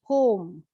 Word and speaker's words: poem: a short monosyllable word this is pronounced as a poem poem not a poem but it's a poem this word is psychiatrist